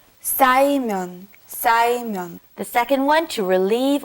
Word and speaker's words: 쌓이면: Be careful with the 싸. 쌓이면.